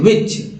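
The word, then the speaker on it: which: विच, जिसमें एच का उच्चारण, विच में एच साइलेंट है, याद रखिएगा। विच लिखते हैं लोग लेकिन गलत लिखते हैं, एच जो है साइलेंट है।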